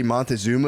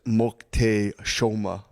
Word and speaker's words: Moctezuma: Apparently, the way you say Montezuma is Moctezuma.